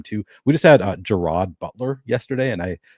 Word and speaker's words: Gerard: all the time too we just had uh Gerard Butler yesterday and I pronounced Jared but for like half of the show that I was on before I got corrected I was like all right fine fine gerro Butler I didn't realize it's spelled like Jared